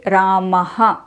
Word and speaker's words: visarga: saying it this way ramaha in conclusion the correct and actual pronunciation of visarga is ah like Rama Hari Guru but if you want